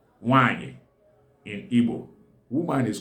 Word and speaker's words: nwaanyi: Wanyi. Wen-a-a-nye-e. Okay, now Wen is a combo of Ne and the We. Then Nye is the combo of Ne and the Ye. Okay, now Wanyi means woman.